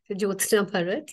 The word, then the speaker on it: Jyothsna Bharat: much once again uh I think youve pronounced it right J parat yes or for your comfort